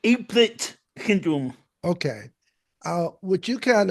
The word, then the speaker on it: Apert: I know that you have, I guess, the right pronunciation is Apert syndrome. Am I pronouncing that correct? APERT? I pronounce it aplet syndrome.